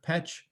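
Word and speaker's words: Pécs: now a smaller city in hungary is is petch that is pronounced petch and i like this slide because it actually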